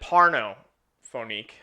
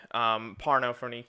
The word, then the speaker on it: Pornophonique: We are reviewing, I pronounce it Pornophonique. Pornophonique to keep it CBS.